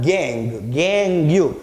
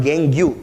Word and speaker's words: gangue: is called as a gangue. It's not gangue, it's gang. Okay, don't pronounce it gangue. The spelling is Gangue, but the pronunciation is gang.